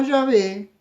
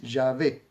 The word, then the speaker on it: Yahvé: Pero lo que hemos entendido, lo que venimos entendiendo es que la forma más cercana, más acertada para pronunciar el nombre del Elohim de Israel es Yahvé o Yevé.